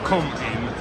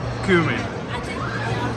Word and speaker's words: cumin: to the pork R it's not come in it's kuming yeah no you you